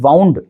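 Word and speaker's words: wound: अगर मैं वाउंड इस वर्ड को पढ़ता हूँ तो यहाँ पर इसके भी खुद दो प्रोनाउंसिएशन निकल कर आते हैं। इसे वाउंड भी पढ़ा जाता है और इसे वुंड भी पढ़ा जाता है।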